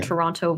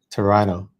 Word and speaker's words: Toronto: the word Toronto because people from outside of Toronto or outside of Ontario would probably pronounce it as it's spelled Toronto yeah with a t sound Toronto versus Toronto torano torano yeah Toronto I